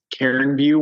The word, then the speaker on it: Cairn View: So it is Karen View Winery, just like saying your best friend Karen, except without the E.